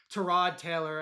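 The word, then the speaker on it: Tyrod Taylor: They're going to go with Terrod Taylor, as Baker said. that's how it's pronounced.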